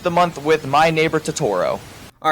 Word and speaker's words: Totoro: then I finished the month with My Neighbor Totoro all right editor Brady here it's pronounced Totoro not Totoro I'm an idiot sorry